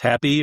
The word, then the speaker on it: HapBE: Because, we say it's happy, but you drop the PY and you change it to BE, like being and not doing.